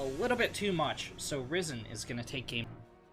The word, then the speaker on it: Ris3n: Oh god, I literally just asked him how to pronounce that. It's Ris3. I've been calling him Ris3J for years at this point, and it's Ris3. It's always been Ris3, 100% of the time.